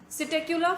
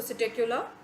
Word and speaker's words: Psittacula: Corvus for the crow, columba for the pigeon, and then Psittacula for the parrot. Okay, P is silent here, so Psittacula for the parrot, and then Struthio for the ostrich.